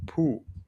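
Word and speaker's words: πού: So the pronunciation is kind of like as if you're saying poo, right? Poo. But when you say poo, you're kind of like dragging the o a little bit. Poo poo. But here it's poo. It's a little bit more cat, right? The sound a little bit more uh short.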